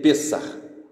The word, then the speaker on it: Pesach: Se você observar, a Páscoa judaica, que se escreve Pesach ou Pessah, ela se lê Pessah, Páscoa, passagem.